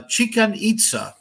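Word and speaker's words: Chichén Itzá: site uh a pyramid a chican itsa which rhymes with chicken pizza which rhymes with chick x so that's what we'll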